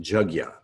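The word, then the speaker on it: yajña: it it's chug yah so a jug like a jug of water yeah like yeah it's how it's pronounced jug yah yah yah yah the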